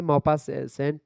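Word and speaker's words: Maupassant: होती है ऐसे ही यहां पर गाय दे मोपा सेंट जो यहां पर लिखा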